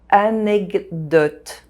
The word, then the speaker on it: anecdote: Anecdote. The D sound modifies the K sound and it becomes a G sound.